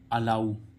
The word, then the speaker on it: allow: तो हम देख लेते हैं ALLOW, अलाउ, इसका उच्चारण क्या निकल रहा है, ऊ, और अभी क्या निकल रहा था, ओ, लेकिन यहाँ क्या निकल रहा है, ओ।